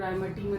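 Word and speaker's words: Reimer–Tiemann: कौन सी रिएक्शन है, राइमर-टाइमन रिएक्शन, ठीक है। कई लोग राइमर-टीमन रिएक्शन भी बोलते हैं, तो इट्स फाइन, प्रोनाउंसिएशन में कुछ भी बोल सकते हैं, ठीक है।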